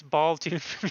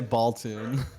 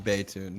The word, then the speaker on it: Baltune: I think people joke around and call him Baytune because it's an I on Twitch, but I think he wants it to be an L.